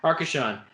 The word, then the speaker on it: Arcachon: Arcachon? Thank you. Arcachon.